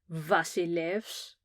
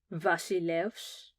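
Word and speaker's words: βασιλεύς: V is for Vasilevs, Vasilevs.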